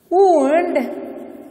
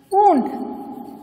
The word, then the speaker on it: wound: Bandage was wound around the wound. Okay. Now the bandage was wound around the wound. See, the spellings are same. W-O-U-N-D, W-O-U-N-D. Same spelling. Meanings are different.